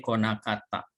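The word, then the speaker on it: 来なかった: Jadi kino kemarin gakoe konakata, tidak datang ke sekolah. Jadi huruf kanji ini karena di sini ada nai nakata, ini dibacanya ko ya, konakata.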